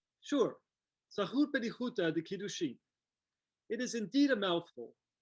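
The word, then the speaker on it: Tzahut Bedihuta de-Kiddushin: I think I need some help with the pronunciation. Sure, Zahut Bedihuta de Kiddushin.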